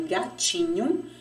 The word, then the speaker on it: gatinho: Observe que no nome gatinho, ele termina com O, mas pronunciamos com o som de U. Por quê? O O, quando ele está em posição final, ele tem o som da vogal U.